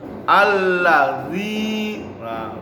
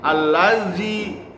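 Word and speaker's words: الذين: Siratal ladzina, ya bukan ji ya. Ini biasanya orang-orang Sunda, orang Betawi kalau baca za itu za. A'udzu. Nah, salah. Yang benar a'udzu, bukan a'udzu. Allazi. Nah, bukan allaji ya. Salah ya. Yang benar allazina.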